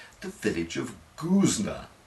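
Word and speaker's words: Goosnargh: pronunciation the village of guzner whose gh is silent unlike the famous guzman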